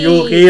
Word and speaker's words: Yuki: Si Yuki rhymes with Cookie!